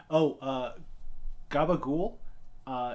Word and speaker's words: gabagool: Gabagool is a regional pronunciation of capricola, which is a thinly